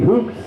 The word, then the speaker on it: Hoopes: And Cody Hoops, it's spelled Hoopes, and check out his new YouTube channel.